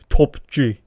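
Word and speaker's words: Top G: 난 더 할 거야 난 그러면 톱G 아야 그 약간 좀 앤드류 테이트 발음은 톱G 이렇게 내려야 돼 턱을 살짝 톱G 아무튼 톱건 이미 제가 쇼츠로 리뷰를 올렸어요.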